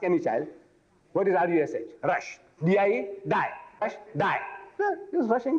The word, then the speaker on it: Rushdie: His name is Salman Rushdie.